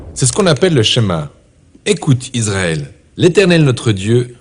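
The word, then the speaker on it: שמע: Le premier mot du schéma est écouter ou entendre, prononcé schéma en hébreu.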